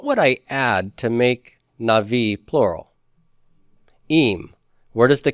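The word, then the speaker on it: נביא: The way it's written and spelled here, how many syllables do we have? 2. We have 2 syllables. If I were to divide this into syllables, where would I make my dividing line? After na. Na-vi. Right?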